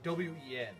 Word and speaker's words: Nguyen: There's the name Wen. It's spelled Nguyen. How the frick does that make any sense?